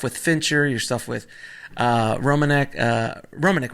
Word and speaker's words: Romanek: Especially the work you've done with music videos, your stuff with Fincher, your stuff with Romanek, right? Is Mark Romanek? Yeah, I pronounce it right. Yeah. Romanek, yeah, all that kind of stuff.